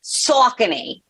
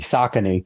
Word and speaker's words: Saucony: So the correct pronunciation is sock, S-O-C-K, and then knee, like your kneecap. Saucony. In New York, it's Saucony. Gotcha. So it's like punching a knee, Saucony.